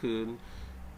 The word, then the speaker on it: Kean: and for those people who are not familiar, Kean, in my case, is spelled Kean. So some people pronounce it Kean, and hey, I'm okay with that.